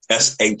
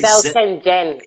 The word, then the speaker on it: Shenzhen: I know as y'all say, Shenzhen. It's kind of spelled how it's said, isn't it? Yeah, so certain things are pronounced a certain way. What you would think is Z is not, is sh.